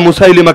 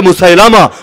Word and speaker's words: মুসাইলিমা: একটার নাম মুসাইলিমা কাযযাব, লোকে বলে মুসাইলামা, বিশুদ্ধ উচ্চারণ মুসাইলিমা।